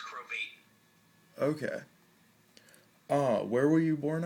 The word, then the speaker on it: Krovatin: My full name is Krovatin. It's Krovatin, not Krovatin. It rhymes with Satan.